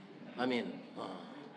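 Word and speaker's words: آمين: sudah mendoa maaca amin amin P setengah Kawan takutah Pak Pak Amin n kita maaca sudah berdoa tuh pak ciri-ciri tulisannya alifnya pakai panjang tiga Alif a mimnya ada ya mati jadi membacanya Amin aob Pak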